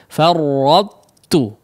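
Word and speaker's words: فرطتُ: Nah, ada sifat itbaqnya terlebih dahulu, baru masuk kepada huruf ta ketika diucapkannya. Seolah kita ingin mengucapkan huruf ta yang ditasydidkan, tapi ketika dikeluarkan ternyata huruf ta, ya.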